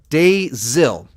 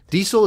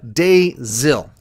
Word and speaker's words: Dazil: Dazil. Diesel is not a name in India, so some kids used to tease me by calling me Diesel. Well, Dazil.